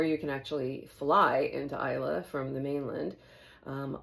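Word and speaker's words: Islay: It's not pronounced E or E. It's Isa and it's its own island. You need to take a ferry to get there. Uh or you can actually fly into Isa from the mainland.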